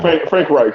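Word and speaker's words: Frank Reich: mean this they fired Frank Ray is it right is that how you pronounce it right yeah Frank right yeah Frank right he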